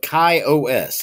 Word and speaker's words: KaOS: Today we're taking a look at the new release of KaOS. It's K-A-O-S. I'm just going to pronounce it KaOS.